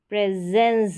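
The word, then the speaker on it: presence: यहां पर प्रेस स ये जो एस है इसको अब यहां पर क्या पढ़ेंगे स या ज यहां पर ज पढ़ेंगे तो ये प्रेस प्रेस हो गया क्योंकि एस से पहले ई है ना इसलिए एस से पहले ई है जोक एक वाउल लेटर है जो साउंड प्रोड्यूस भी स्वर का ही कर रहा है ए करके आ रहा है तो प्रेजेंस ज आ रहा है साउंड प्रेजेंस फिर है ए नो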